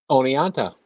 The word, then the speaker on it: Oneonta: Oneonta.